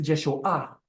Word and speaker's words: Yeshua: Es Yeshua. Yeshua. Yeshua. Yeshua.